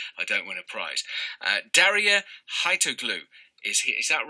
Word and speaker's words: Darya Haitoglou: Daria Haitoglu is here.